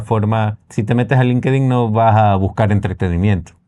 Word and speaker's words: LinkedIn: Y hay una herramienta que no hemos probado, que la queremos probar, es LinkedIn o LinkedIn, como dicen, como realmente se pronuncia.